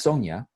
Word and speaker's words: Sonyan: n ÿ åý ñ even though it's pronounced Sonya okay so so there's an end at the end so for those who